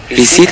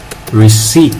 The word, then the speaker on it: receipt: bằng chứng mua bán, Receipt này. Đó là gì, nghĩa là gì? Biên lai sao ấy. Hay quá, rất tốt mình ơi. Receipt, từ này đọc là receipt nhé, chữ P không đọc đâu.